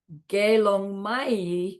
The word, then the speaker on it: Gelong Mai: It's not Mei and Pei, it's Pai and Mai. Sotarki Do. Gelong Pai means fully ordained monk. Gelong Mai means fully ordained nun.